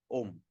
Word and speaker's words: Om: So that's why when we look at Om, how do we pronounce Om? A-U-M. A-U-M. Om.